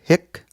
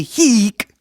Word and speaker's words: hic: vowels really matter because there's another Latin word, hic, with a long I that actually means right here. And you don't want to say hic when you mean hic.